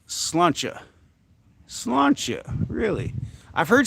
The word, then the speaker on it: sláinte: Sláinte is like cheers in Irish, pronounced slawn-cha. Slawn-cha, really? I've heard sláinte.